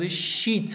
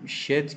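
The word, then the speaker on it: sheet: این خیلی تأکید می‌کنم این تلفظ شیت هست با اشاره کردم ساعت پیش با اون شت که شما تو هر مرحله از کاری که تو زندگیتون انجام میدین باهاش مواجه میشین فرق می‌کنه شیت به عنوان یک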